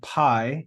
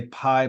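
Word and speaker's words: π: Greek letter P or Pi you know in English we say Pi but really in Greek pronunciation would be P it's just p i p it makes the P sound we then have the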